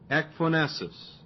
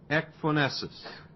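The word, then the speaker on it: ecphonesis: Ephonesus and it's spelled E C P H O N E S I S. Ephonesus.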